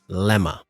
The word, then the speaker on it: Lemma: that um i got to meet uh lemma did i pronounce it right yes yes and it's uh just for the audience it's uh l e m m a uh and you can easily find me on